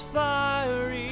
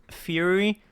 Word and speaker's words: fiery: Will you reflect me in who I am inside this fiery shell? No. No. I don't care that it is correctly pronounced fiery. Fury sounds so much better.